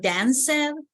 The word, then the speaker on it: danced: When the verbs ends in these sounds, we pronounce like T, okay? People, what is the pronunciation of dance in the past? Is that danced? I danced at the party. Dance. Nah, that sounds really bad. So what's the real pronunciation? Dance. Danced with T, exactly.